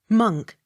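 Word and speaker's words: Monck: the x sounded with slight accent on last syllable m o n c k monk m o n c k t o n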